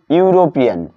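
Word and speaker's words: European: এখানে ইটা কিসের মতো উচ্চারণ হচ্ছে, ইউ এর মতো, যার কারণে এটাকে এই এর পূর্বে এ এ বসলো, এন না বসে এ বসলো।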